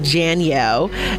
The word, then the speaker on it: Janielle: Like Danielle, but Janielle.